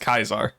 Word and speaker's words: Caesar: I'm going to ruin Tiny's joke here, chat, cuz that word is pronounced Kaisar because uh classical Aladdin, like Roman Aladdin, wouldn't have had any softies.